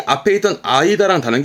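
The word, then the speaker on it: 間: 혼자 두면 사이를 의미하겠죠. 이때 발음은 아이다.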